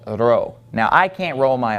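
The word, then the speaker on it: ρ: symbol right here okay this is row so you don't want to get those two mixed up whenever you see this when you're reading Greek you need to get used to pronouncing this as an R sound and not as a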